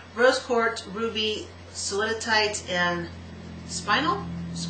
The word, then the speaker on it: spinel: quartz, ruby, soliditite, and spinel, like spine, S-P-I-N-E, and then an L at the end.